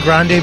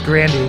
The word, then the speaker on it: Grande: of the gramys um I still say Grande but it's it's it's Grandy that's she pronounces it Grandy just by the way